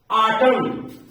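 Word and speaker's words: autumn: के शब्द आते हैं एम और एन अगर साथ में आते हैं तो उनमें से एन हमेशा साइलेंट हो जाएगा ओ व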